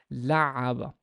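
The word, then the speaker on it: لعّب: Number three is there's a shadda on the ayn, so I have to double the sound. I have to kind of stress it. لعب, لعب, لعب.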